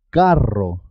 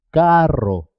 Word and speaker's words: carro: ser doble por ejemplo cuando se escribe doble 2 eres siempre suena doble carro carro es importante marcar la